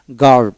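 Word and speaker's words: guard: গিলড উচ্চারিত হবে তারপর গার্ড জি এ আরডি গার্ড এভাবে উচ্চারিত হবে ইউটা সাইলেন্ট থাকবে তারপরে মাসক মাসক মাসক এম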